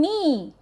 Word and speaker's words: knee: Then knee, K, N, E, E, knee. So here N is silent and K is also silent, knee.